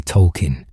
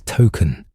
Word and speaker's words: Tolkien: In recent seasons, the show revealed his name is actually Tolkien, named after J.R.R. Tolkien, and that everyone had been mispronouncing it as token all along.